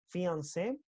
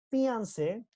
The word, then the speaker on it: fiancé: Fiancé, the man who is engaged, prometido, fiancé, prometida, ¿listo? Entonces ahí la pronunciación es igual, solo el contexto me dice si estoy hablando de una mujer o de un hombre, ¿ok?